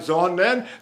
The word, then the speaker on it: Sonnen: Like Sonnen, the nen is the final syllable of the vowel, and it's supposed to be unstressed.